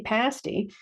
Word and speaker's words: pasty: so a Cornish pasty note the pronunciation short a pasty it's basically a meat